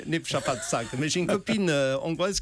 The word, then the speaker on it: Népszabadság: Vous avez compris la façon dont j'ai prononcé Népszabadság.